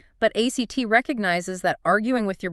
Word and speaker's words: ACT: And that is exactly where ACT comes in, acceptance and commitment therapy. ACT, and they actually pronounce it act.